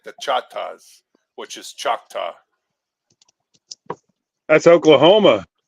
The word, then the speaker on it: Choctaw: I went through Stone Mountain, went through Choctaw Nation. Oh, nice. Yeah, most of the outside world calls it Choctaw, but it's actually pronounced Chata.